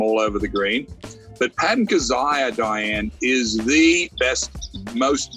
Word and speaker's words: Patton Kizzire: Patton Kizzire. Did I say his name? Yes, Patton Kizzire.